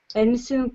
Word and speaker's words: anything: You can get whatever you want, buy everything and anything you want. Just a second, please. Sorry for interrupting. So, such words as selling, everything, anything, should be pronounced without g or k sound at the end.